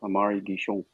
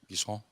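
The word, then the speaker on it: Amaury Guichon: Yeah, his name is Amari Guichon. Guichon. Very nice. I like how all French words just don't pronounce the end.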